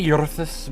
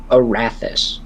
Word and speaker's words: Arathis: I try to say Eurythus, but because of the R roll, it like fucked that up. It's Arathis. Arath.